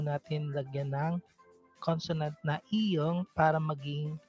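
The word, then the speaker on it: 이응: lagyan ng consonant na iyong para maging syllable po yung mga vowel na iyon. It doesn't affect the sound value of the vowel because iyong is silent when it is placed before the vowel.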